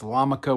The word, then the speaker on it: Lamaka: See, it's Lamaka with a yarmulke. Also, it rhymes with Hanukkah.